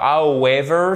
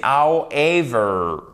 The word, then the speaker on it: however: Alors, ce n'est pas however, c'est however. Le W here is not pronounced. OK. You do not pronounce the letter W in that word.